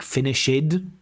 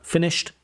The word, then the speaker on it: finished: So you know those ed endings like finishid uh uh finished exercisid uh uh exercised.